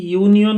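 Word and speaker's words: union: বহিব কারণ হল কি ইউনিয়ন ওয়ার্ড টুর উচ্চারণ ওয়াই এর পরে হওয়া নিছি না হইছে ওয়াই ইউ এন আই অর্থাৎ অহমিয়াত আমি ইয় নিছি না আমি কব পারুকে ইয় সাউন্ড টু অর্থাৎ ওয়াই এর পরে আরম্ভ হয়েছে একটু সেমি ভাওয়েল ইয়াকে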